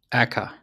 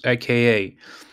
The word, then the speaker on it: aka: Aka. Yeah, she should pronounce this AKA. Some of them pronounces this AKA, some just pronounce it Aka.